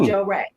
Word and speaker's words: Jorae: it may spell it a little but it's pronounced Joe Ray okay okay and it just so happens that